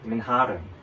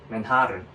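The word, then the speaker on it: Manhattan: 그래서 그분도 이제 퀸즈에 맨핫 옆에 맨하 그리고 여러분 재밌는게 미국에서 맨화탄이라 그러면 못 알아들어 알지 못해 뭐라 해야 되냐면 맨하른 맨하은 이렇게 발음해야 돼요. 저도 가서 외국인 친구한테 이렇게 들었어요. 맨하른이라 발음해야 된다고.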